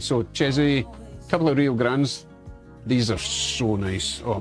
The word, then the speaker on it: Grande: Grande, as opposed to Grandee, you know?